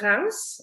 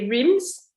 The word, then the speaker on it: Reims: is the Montagne de Reims. So the city called, so spelled R-I-M-S. British people will say Reims. We pronounce Reims in France.